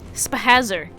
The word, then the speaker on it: Spazer: spaser I SP I I pronounce it spaser spazer like a like a hazard it's a hazard beam